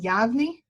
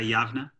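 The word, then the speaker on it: Yavne: And help me, is it pronounced Yavni? Yeah, Yavna. Yavna, okay, Yavna, a Jewish case for equality in Israel-Palestine.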